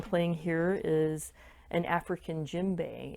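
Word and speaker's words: djembe: now what i'm playing here is an african gym bay it's spelled d-j-e-m-b-e it's one of the form of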